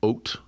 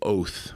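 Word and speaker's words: אות: There's a word in Hebrew, ot, or sometimes biblical. My Hebrew, I learned it weird. I learned sort of biblical Hebrew, but also listened to Israeli pop music. So I have contemporary pronunciation. So like a Bible guy would say oath, maybe, but it means sign.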